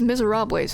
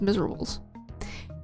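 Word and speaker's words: Misérables: Musical these miserable these misera huh should probably have pronounced that as Miserables it's about Revolution very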